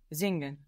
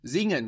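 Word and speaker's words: singen: do organist to sing zing zing good with a z sound for that s Zing spelled s i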